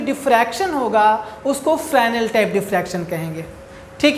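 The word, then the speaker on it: Fresnel: से पहला है आपका फ्रैनल डिफ्रैक्शन। प्रोनाउंसिएशन पर ध्यान दीजिए, हमने इसको पढ़ा है फ्रैनल, ठीक है ना। फ्रैनल डिफ्रैक्शन पढ़ा जाता है, इसको एस यहाँ पर साइलेंट रहता है, ठीक है।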